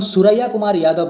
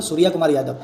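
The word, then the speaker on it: সূর্যকুমার যাদব: আমাদের ইন্ডিয়া টিমে কোনো সুরাইয়া কুমার যাদব নেই। সুরাইয়া কুমার যাদব আমাদের কোনো ইন্ডিয়া টিমের প্লেয়ার নেই। আমাদের ইন্ডিয়া টিমে একজন প্লেয়ার আছেন, যার নাম হলো সুরিয়া কুমার যাদব। সুরাইয়া কুমার নয়।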